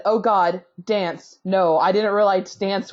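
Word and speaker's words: Danse: For those of you who may not be familiar with dance, spelled with an S, D-A-N-S-E, as we are introduced later, that Dance is her stage name.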